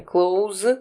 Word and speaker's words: clothes: Обратите внимание, clothes говорится с американским акцентом именно так. И S никогда не читается.